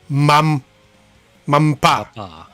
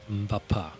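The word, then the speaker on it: Mbappé: Mampa. Bapa. You don't pronounce the M? Mbappa.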